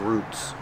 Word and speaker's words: roots: has a lot of roots pronunciation make the long ooh ooh like food roots one root and two